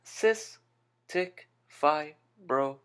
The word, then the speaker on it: cystic fibrosis: begin with the terminology the term is pronounced as CIS tick F brois looking at the chart